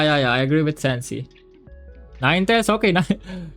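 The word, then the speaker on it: Ninetales: And um next see yeah we do say it like Ninetails.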